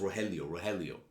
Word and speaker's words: Rogelio: I mean, heck, when I was looking at the Argentinian governor, I was like, his name's pronounced Rogelio.